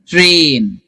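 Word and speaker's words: train: मेन ट्रेन अभी ट्रेन ट्रेन में letters जो है पांच है लेकिन साउंड सिर्फ चार ट र ए ट्रेन ओके ब्रेन बहुत इंपॉर्टेंट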